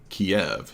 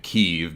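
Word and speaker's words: Kyiv: did with Newsweek Romania that was filmed in Kiev he calls it keev because he's obviously repeating what the Democratic mainstream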